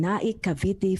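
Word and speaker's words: Naic, Cavite: born and raised in naikaviti philippines he has to correct me my own pronunciation n-a-i-c as in nike america i'm not sure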